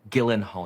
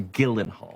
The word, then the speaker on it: Gyllenhaal: No, Gyllenhaal. Your name is pronounced Gyllenhaal.